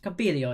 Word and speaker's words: Campiglio: In which country is the ski resort of Madonna di Campiglio? Is that right? Campiglio, yeah.